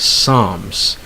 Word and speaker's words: psalms: the Old Testament it's Psalms okay again you don't pronounce the L next bomb again no